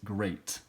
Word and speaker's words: great: this word here great so it actually sounds like a long a sound grow eight great so this e a